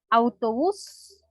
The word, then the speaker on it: autobús: puedo dar otros además autobús termina con ese y se tilda y tiene su acento en la última sílaba aguarrás verdad es parte